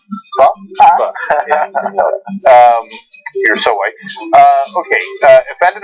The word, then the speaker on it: pho: Okay, so by the way, it's pronounced pho.